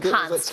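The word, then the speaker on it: Konst: How do I pronounce? Is that Const. Const.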